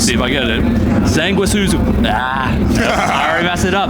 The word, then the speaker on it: Sanguisugabogg: I'm here with Devin from, let's see if I get it, Sanguisugabogg. I already messed it up. Sanguisugabogg. Close. You gotta pronounce the G. All right, give it to me. Sanguisugabogg or Sanguisugabogg.